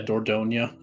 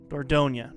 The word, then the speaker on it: Dordogne: Yeah, Dordogne. Dordogne.